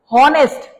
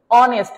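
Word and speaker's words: honest: এগুলো আপনাদের মুখস্ত আছে হনেস্ট আসলে কি হনেস্ট বলি আমরা কি বলি অনেস্ট ও এনই এসটি উচ্চারণটা শুরুতে এরকম ও আসে হ্যা আচ্ছা এফ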